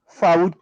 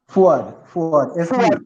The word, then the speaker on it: Fuad: Faud Khan. Did I pronounce that correctly, sir? Fuad Khan.